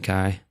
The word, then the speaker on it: Kai: you couldn't be King Kai just laughs and says I am Who I am he then tells Goku to guess his name and he says it rhymes with by does he say that